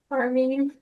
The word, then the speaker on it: Carme: How is it pronounced? Carme.